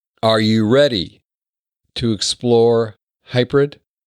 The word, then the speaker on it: HYPERID: in the right way it's it's hybrid so it suggest to sound like hybrid and you just need to change or exchange a P with a d it's hybrid so um